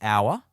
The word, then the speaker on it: hour: The best example is hour. It is spelt with an H, but when you say the word, it sounds like it starts with an O.